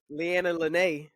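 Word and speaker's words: Leanna Lenee: man so okay so fiance of Travis Hunter lyanna Len lyanna Len is it right I think you're saying it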